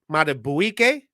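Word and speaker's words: Madubuike: You got defensive tackle Justin I got to pronounce this right. Justin Matabuike.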